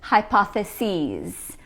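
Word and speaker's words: hypotheses: The plural is hypothesis. Notice that we pronounce it with a long e sound.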